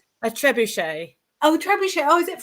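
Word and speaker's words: trebuchet: How do you How do you pronounce it? A trebuche.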